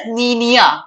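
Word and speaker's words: La Niña: Okay, इसको La Nina, La Nina, but it's a Spanish word, so we pronounce it as Niña.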